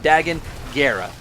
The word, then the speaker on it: Dagan Gera: High Republic named Dagan, I keep saying Dagan, but I'm pretty sure it's pronounced Dagan Gera, who is a Jedi